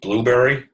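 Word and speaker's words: Blubrry: choices if do podcasting that's actually pronounced blueberry go figure um memberships again paid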